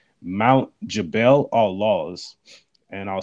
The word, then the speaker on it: Jabal al-Lawz: areas, and he found this area called Mount Jabal al-Lawz, and I'll spell that for you guys so you can look it up for yourself.